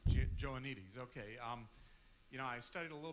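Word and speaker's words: Joannides: You're going over George, how do you pronounce his last name again? Joanides. Joanides, okay.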